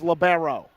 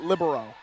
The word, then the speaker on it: libero: a video and I cannot tell how it's pronounced libero or labero what is your director I'm asking you it's libero I mean I heard a lot of college coaches call it libero very interesting topic it doesn't matter but very